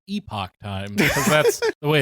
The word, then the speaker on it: Epoch Times: you won't get anywhere else this is The Epic Times and on the surface there are an extremely right-wing conservative newspaper and on the surface it would be pronounced Epoch times CU that's the way it's spelled but they